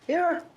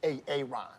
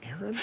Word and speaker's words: Aaron: Aaron. Why didn't you say it the first time I said Aon? Because it's pronounced Aaron.